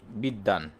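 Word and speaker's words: বিদ্বান: তারপরে আমরা যদি বলি বিদ্বাান। তাহলে এখানে দেখেন প্রথম ব টা আমরা উচ্চারণ করতেছি কিন্তু পরের বটা উচ্চারণ করতেছি না।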